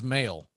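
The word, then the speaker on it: Mahle: an uh off air i have heard his name specifically pronounced three different ways on on national telecast i finally had to look it up and evidently he prefers mail yeah and i've been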